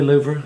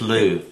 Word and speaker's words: Louvre: Is it really Louvre? Some people pronounce it that way. You know, some people just say Louvre. She says it's not. It's Louvre. I say Louvre. But it sounds too much like loo.